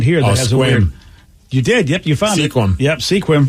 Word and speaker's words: Sequim: you did yep yep Sequim yep also stupid well they should just spelled it squim I feel like that